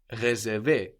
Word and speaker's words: réserver: And you can tell which E sound you need, as the E of recommander, for example, is written with a normal E, like in je and like in le, just an E, where the E of réserver, réparer, is written with a little accent over it, a little dash going up from the E, which lets you know to pronounce a stronger E.